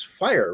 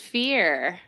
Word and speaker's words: Fir: hard to pronounced but it's it's fire right is that is that how it actually is pronounced fear oh fear okay it's a Dutch word that's okay it's all